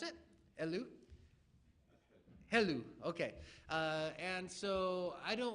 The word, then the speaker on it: Helou: Is that how you pronounce it? Helou? Helou, okay.